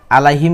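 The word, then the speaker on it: عليهم: কিন্তু আমি ভুল পড়ছি আলাইহিম কি হবে আলাইহিম আইন শব্দটি শক্ত করে উচ্চারণ করতে হবে আবার বলেন আলাইহিম আবারো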